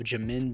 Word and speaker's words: Jamin: the new edition of jamin davis and i was told you're pronouncing you're supposed to pronounce it j and then min and then it's davis